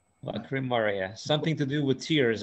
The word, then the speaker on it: Lacrymaria: Lacrymaria. It's phonetic, and there's no double consonants. Lacri Maria, something to do with tears, eh?